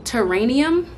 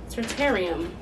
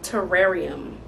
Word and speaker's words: terrarium: that I was saying teranium that's not what it's called these little things it's not called a terranium it's called a t terarium terarium it I'm saying